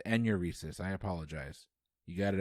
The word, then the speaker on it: enuresis: problem during childhood nocturnal uranesis is a medical term better known as what uh bedwetting that is correct and i mispronounce that it's enuresis i apologize you got